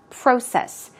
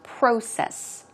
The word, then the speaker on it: process: Process. It's pronounced slightly differently. In American English, it's process, process, process. In British English, it's closer to process, process.